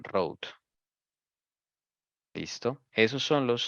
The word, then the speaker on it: Rhode: Rhode Island, sí, se escribe Road, R-H-O-D-E, Road.